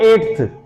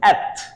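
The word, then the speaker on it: eighth: इसको मिसप्रोनाउंस करते हैं, इसको पढ़ते हैं एट्थ, एट्थ, एट्थ। This is नॉट एट्थ, this is एथ।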